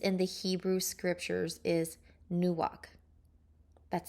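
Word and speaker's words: נוּחַ: The other main Hebrew word used for rest, used in the Hebrew scriptures, is nuach. That's spelled Nuakh.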